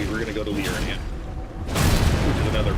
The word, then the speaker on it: Liurnia: And then we're going to go to Liurnia, which is another pronunciation.